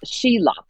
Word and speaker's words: Soolip: Yes, it's two Chinese characters, and it's pronounced Shila, but it's two Chinese characters, and it actually is also my middle name.